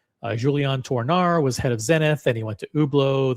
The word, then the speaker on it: Zenith: Because now we're going to get into ublau and we're going to get into zenith which are pronounced ublau and zenit in French.